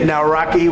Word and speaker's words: Nawrocki: It's a great pleasure to have President Naraki with us.